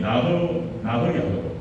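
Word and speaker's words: ניחוח: 향기롭다라고 하는 것은 나흐 야흐 원어 발음이 나흐 야흐 이게 이런 뜻이에요.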